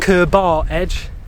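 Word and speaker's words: Curbar Edge: feature Kerber Edge, and I call it Kerber Edge. Because that's how I thought it was pronounced. That's how it's spelled. I see Ker, I see bar. It's not Kerber Edge, it's Kerber Edge.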